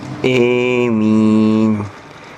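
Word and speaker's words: آمين: Jadi yang dibaca imalah itu a-nya, sehingga bacanya emin. Emin, kayak sate.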